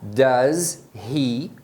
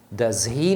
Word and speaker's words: does he: O H do he, né, o som do R inicial, eles acabam omitindo e emendam com o does.